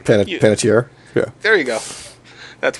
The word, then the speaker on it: Panettiere: I can't fucking pronounce her name. Panettiere?